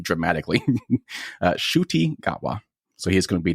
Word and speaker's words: Ncuti Gatwa: He has a pretty epic name, and it's not spelled anything like you would imagine it's actually pronounced as. So it's actually Ncuti Gatwa, not Ncuti. So I apologize for mispronouncing his name dramatically. Ncuti Gatwa.